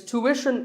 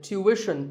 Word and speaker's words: tuition: like the word tuition its tuition in American English and tuition in British English so what's the hidden sound here well the first syllable is easy to American or to British but after that it's not ition it's Wishon tuition you have to put the what sound there so tuition word number